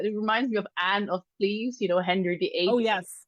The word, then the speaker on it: Klieves: It's not spelled like Anne of Cleves, but you never know.